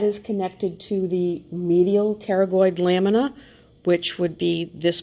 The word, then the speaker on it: pterygoid: are the called the pterygoid processes pterygoid is spelled with a P but the P is silent so we have both a right and a left and there are different parts to the pterygoid process we have the